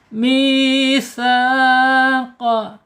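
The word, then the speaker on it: مِيثَاقَ: Kemudian secara makhraj karena ini huruf mad, maka al jaub misa ya, jangan misa ya, jangan disengaukan ya, kalau disengaukan masuk hidung ya. Ini namanya al-jaub. Al-jaub itu harus di rongga mulut saja ya.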